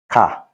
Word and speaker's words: kà: Ordinarily, it is pronounced wo. Read, kà or ka.